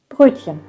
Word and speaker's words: Brötchen: It's pronounced Brötchen. Sounds really sweet. And the problem is the Ö sound. It's really tough to pronounce if you never have pronounced something like this, because in English there is no such sound. It's Ö. It comes from your throat somewhere, I would say.